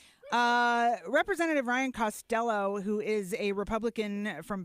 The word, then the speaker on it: Costello: ker bellows name right call them Cabella capella it's not his name representative Ryan Costello who is a Republican